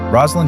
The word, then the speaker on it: Roslyn: Am I saying your name right? Roslin. Is that correct? You are. You're saying it correctly.